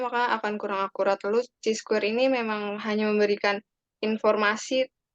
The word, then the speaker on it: Chi-square: Pertama, bacanya bukan Chi-square tapi Chi-square. Jadi ini Ya Pak. apa namanya pronunciation untuk uji statistik ini adalah Chi-square.